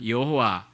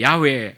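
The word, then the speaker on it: 야훼: 하나님의 이름이 무엇이냐 하면 여호와 뭐 여의도에 계신 목사님은 평생의 야외 야외 그 동네 야외 그랬는데 어 이상하다 생각하시면 안되구요 원래 제 발음이 그게 좀 더 정확합니다 이 야외 하나님 이렇게 바람 하던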